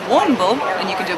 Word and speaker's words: Warrnambool: Yeah, it's spelled a bit weird. Warrnambool is the way of saying it, and Warrnambool. Chad, you want to get in this? And you could try. Warrnambool?